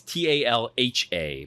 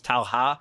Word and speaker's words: talha: you put them at the bottom of the talha. Uh by the way, the talha is t a l h a, but you always pronounce the h like a a y in Portuguese, so it's talha.